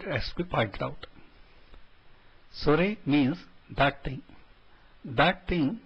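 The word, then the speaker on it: それ: Please note the last letter E is actually pronounced as A, and so these should be pronounced as kore, sore and are and not as kor, sor and are.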